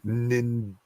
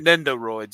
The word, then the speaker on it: Nendoroids: He says, "Hey guys, I'm watching the show and playing with my new Nindoroids." Is that Shane? Do you know how to pronounce that? Or well, no, it's Nindroids, right? Nendoroids.